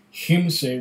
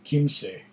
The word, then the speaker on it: Kymsee: stop him say CH him say was just pronounce him say rather than Kim say that's good to know